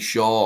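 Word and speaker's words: Schär: I think Shaw or Sher, whichever way you want to pronounce it. I believe it's Sher, actually.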